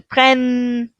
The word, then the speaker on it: prennent: Je prends, tu prends, il prend, ils prennent, ils prennent. And we're going to hear that double N. Remember, the ENT is always silent, even with our irregular verbs.